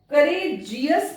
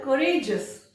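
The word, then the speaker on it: courageous: जी आई ओ यू एस, जी ई ओ यू एस, यदि ये आता है तो उसको जस पढ़ा जाएगा। देखिए कैसे गलती होती है। रिलीजियस कैसे पढ़ा? रिलीजियस, रिलीजियस नहीं, रिलीजियस, रिलीजियस। करेजियस पढ़ते हैं, क्या होता है? करेजस, करेजस, करेजस पढ़ना है।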